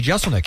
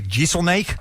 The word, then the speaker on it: Jeselnik: Because it's pronounced exactly the same way it's spelled, I think.